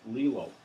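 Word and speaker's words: glial: they're called Lille cells these are spelled GL al pronounced lela lela cells and these are specialized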